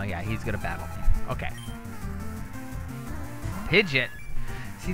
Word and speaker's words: Pidgeot: pidgeot see it's weird is it pidgeotto or is it pidgeot the longest time i've said pidgeotto but i think the real pronunciation of it is pidgin what are not pidgeotto pidgey ott oh my god reading pidgeot is what i've been saying for like i should not be